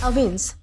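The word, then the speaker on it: evince: तो दोस्तों इसके बाद हमारा अगला वर्ड आता है अविंस। दोस्तों इसे अवेंस प्रोनाउंस किया जाता है जिसका मतलब होता है प्रकट करना, दिखाना या फिर स्पष्ट करना।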